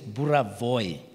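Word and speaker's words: Burawoy: If you did not know Michael Buravoy, by the way, it's Buravoy, Buravoy. That's Buravoy. That's how you say it.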